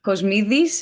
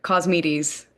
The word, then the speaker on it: Kosmidis: My name is Kosmidis, if you want it the Greek way, or Kosmides in English.